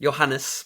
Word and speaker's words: Johannes: In 1440, maybe you can help me with this pronunciation, Johannes Gutenberg. That's fine. That's good. Great. Johannes, but that's fine.